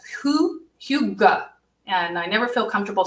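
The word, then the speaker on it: hygge: really embracing right now is spelled completely different if you've ever been in an Ikea you might have a little practice with this but it's it's spelled differently than it sounds it's who you go and I never feel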